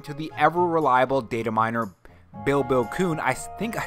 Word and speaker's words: Bill Kuhn: According to the ever-reliable data miner Bill Kuhn, I think I said it wrong last time, I think I called him Bible Kuhn, Nintendo is planning to